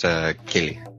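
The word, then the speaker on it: céilidh: Just to help you out, it's pronounced Kaylee. See?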